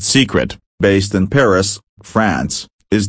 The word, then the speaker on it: Cicret: you may not have two CET pronounced secret based in Paris France